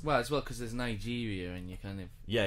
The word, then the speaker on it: Niger: course the river is niger that's fine but the country is actually pronounced niger who stressed on the second syllable and that's one you